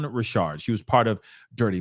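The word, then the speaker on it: Richard: Don Dawn Rashard okay I was saying her name her last name wrong so I apologize but it's Dawn Rashard she was part of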